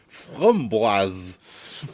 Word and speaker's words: framboise: It's pronounced framboise. Framboise. Yeah. I wish they did a male voice, but yeah, framboise, according to Google.